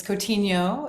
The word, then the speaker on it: Coutinho: should have asked you is that how you pronounce it that was very close and you totally get points for that it's coutinho it's like okay great it's coaching you which